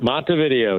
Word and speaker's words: Montevideo: Yeah, Montevideo, just like the old video store.